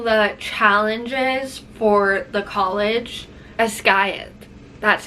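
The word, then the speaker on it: Basgiath: Ascayeth, that's how you say it.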